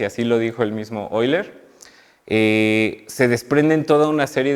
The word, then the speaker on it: Euler: Y quizás lo primero que me gustaría decir es que no se dice Euler, sino Euler, como lo estoy pronunciando.